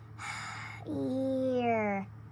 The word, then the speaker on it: here: This is a long e. The e on the end is silent. You don't hear that e. It's a sneaky e. Here.